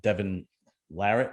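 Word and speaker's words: Devon Larratt: and i'll assume one of them is uh devin larrit if it is that's how you pronounce his name yep i feel like i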